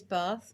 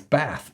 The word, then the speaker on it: Bath: There is a split in the UK. There's a North Divide split on how you pronounce certain words, Bath being one of them, which is a beautiful town in the UK. And if you're from the south or more southern, you tend to say Bath, whereas if you're more